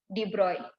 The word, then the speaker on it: de Broglie: Here we will be writing it as a de Broglie, but we have to pronounce it as a de Broglie.